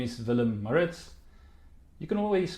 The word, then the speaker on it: Willem: and education practitioners and enthusiasts my name is vilim meritz you can always call me as well if you promise to pronounce it with a V and not a